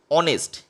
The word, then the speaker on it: honest: Number 2, consonant যা vowel sound দিয়ে উচ্চারিত হয়, যেমন অনেস্ট, HONEST, সামনে এইচ রয়েছে কিন্তু উচ্চারণটা অ দিয়ে এ সাউন্ডটা আসছে, তো সেক্ষেত্রে অ্যান অনেস্ট।